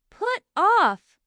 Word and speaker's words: put off: The stress is on-off. Put off.